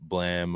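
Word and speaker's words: Blame!: Like the sound effect, like blam.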